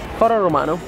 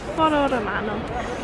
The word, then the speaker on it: Foro Romano: But how do you say that in Italian? Foro Romano. Foro Romano.